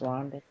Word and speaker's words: Rhonda: right Rhonda Honda unless the H is silent but it definitely has